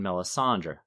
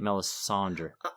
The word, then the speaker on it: Melisandre: poison Melisandre or melis how do you say it Melisandre I give it a little D at the end I go for meland that's how Roy drice does it in the audio book too but I'm too American